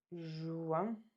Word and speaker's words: juin: Juin. And that IN kind of sounds like an.